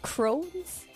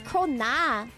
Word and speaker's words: krona: apparently Swedish Krones. I don't even know how you pronounce it.